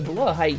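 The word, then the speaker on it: Blåhaj: Blahaj is Swedish, I believe, so it would be pronounced more like Blahaj.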